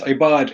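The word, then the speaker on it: عباد: It's not the letter alif, but it's pronounced like the letter alif. So it's ibad, it's not abd.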